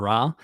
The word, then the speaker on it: Ra: the concert video because i say rey instead of ra and rey is more like coptic pronunciation uh and and and i'm like well that's what a lot of scholars say ray instead of so i'm